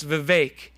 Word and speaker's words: Vivek: and by the way if you want to say his name correctly I heard him say this in a podcast he says it's VI it rhymes with cake so be smarter than